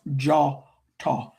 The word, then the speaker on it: Djôtô: or it looks like jotto but it's pronounced jawto the o is an a sound and dj in west Africa languages DJ or DI or DW is pronounced with the J sound.